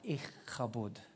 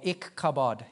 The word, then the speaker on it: Ichabod: Ichabod is how you pronounce his name, or Ichabod if you're an Aussie.